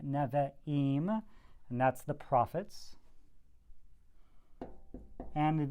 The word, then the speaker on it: Nevi'im: The Nevi'im, that's a long E sound, Nevi'im, and that's the prophets.